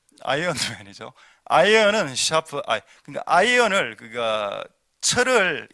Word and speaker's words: 아이언맨: 그 요즘 영화 나온 아이언맨 그걸 아이론맨 이래서 하면 안 됩니다. 그 한국 발음입니다. 아이론맨 아이롱 되죠? 다리미맨 재미없습니까 여러분? 예, 아이언맨이죠.